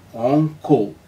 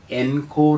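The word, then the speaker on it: encore: സി ഒ ആർ ഇ ഉച്ചാരണം ഓങ്കോ ഓങ്കോ എന്ന് പറയുമ്പോൾ അതിനർത്ഥം റിപ്പീറ്റ് എന്നാണ് അർത്ഥം എൻകോർ എന്നല്ല അടുത്ത വാക്ക് ഇ എൻ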